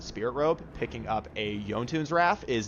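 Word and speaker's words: Jotunn's Wrath: wait on the Spirit Robe, picking up a Yontune's Wrath is not terrible. And yes, it is Yontunes. Don't pronounce it Jontunes.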